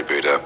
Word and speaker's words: Buddha: spot now we have butters tooth or Buddha and no North Americans say Buddha whatever I say butter the Buddha was probably